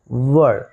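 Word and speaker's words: word: वर्ड, शादी में जो वर होता है ना, चूँकि इंग्लिश में जब किसी भी वर्ड के लास्ट में आर आता है तो उसका उच्चारण अ आता है।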